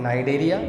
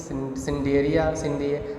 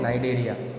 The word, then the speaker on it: Cnidaria: देखो next phylum का नाम है नाइडेरिया, सी साइलेंट है यहाँ पे। देखो इस चैप्टर में आपको प्रोनाउंसिएशन पे थोड़ा सा ध्यान देना होगा, ठीक है, क्योंकि कुछ वर्ड्स ऐसे हैं जिनकी जो स्पेलिंग है वो उससे थोड़ा सा डिफरेंट होता है उनका प्रोनाउंसिएशन। क्योंकि अगर आप CNIDARI को पढ़ोगे तो आप पढ़ोगे सिंडिए ऐसे कुछ पढ़ोगे, लेकिन सी यहाँ पे साइलेंट है और इसीलिए हम इसको क्या बुलाते हैं, नाइडेरिया, ठीक है।